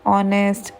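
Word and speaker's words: honest: इसमें ऐसा इसलिए होता है क्योंकि ऑनेस्ट की जो प्रोनंसिएशन है वो ओ से शुरू हो रही है। हालांकि जो उसकी स्पेलिंग है वो एच से हो रही है और कंसोनेंट है। लेकिन मेन प्रोनंसिएशन इसकी वोवेल जैसी है।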